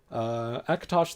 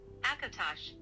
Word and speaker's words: Akatosh: Akatosh, the Dragon God of Time, is the chief